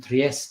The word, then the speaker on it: Trieste: If your back-to-back was in Trieste, which I believe is the right way to pronounce it, I get told off